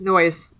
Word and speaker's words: Noyes: of John Humphrey Noyes bring in the noise they're bringing the funk it's spelled differently though but yeah okay oh is it n-o-y-e-s correct yeah there's a l-stop in Evanston with that same spelling n-o-y-e-s noise yeah first I want